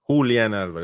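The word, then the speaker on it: Julián Álvarez: Julian Alvarez.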